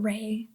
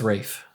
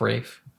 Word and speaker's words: Ralph: Also, his name is Ralph, not Ray. It's Rafe. Look up how do you pronounce Rafe Fiennes' name, and yeah, it's spelled Ralph, but it's pronounced Rafe.